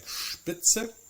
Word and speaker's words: Spitze: followed by the t or by the p sound. So we have words like Stadt, we have words like Spatz, we have words like Spitze. These words will still be pronounced that way even if they're not,